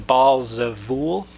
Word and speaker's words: Baal Zevul: That's how we kind of traditionally pronounce it, but that is a caricature of their name, because the title would have been Baal Zevul, which is something we find in the Ugaritic literature, Zevul Baal, which means Prince Baal or Prince Lord.